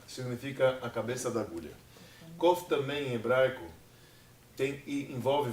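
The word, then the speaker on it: קוף: tem mania na escola a gente aprende como a letra cuf mas na verdade a pronúncia correta é cof e cof significa a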